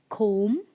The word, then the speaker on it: comb: in this four words the letter b is silent we don't we don't pronounce the sound b okay now now